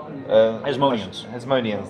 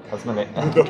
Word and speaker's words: Hasmoneans: Hasmoneans, there we go. Hasmonians.